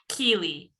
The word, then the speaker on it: Kili: Kili.